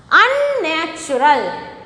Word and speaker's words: unnatural: Unnatural. Unnatural. So, 2N. 2N is pronounced here. See? Unnatural. See, both N are pronounced here.